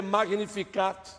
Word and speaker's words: Magnificat: primeira palavra, magnificar, magnificar, o T é quase que mudo, mas nós pronunciamos o T, magnificat.